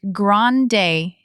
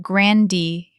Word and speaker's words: grande: It's grande, not grandi, and venti, not venti.